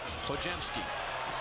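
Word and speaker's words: Podziemski: the year it's pronounced ojy just pretend the D and the Z are a j I love his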